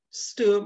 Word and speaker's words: Sturm: Sturm, actually the German pronunciation is Sturm, but the theorem now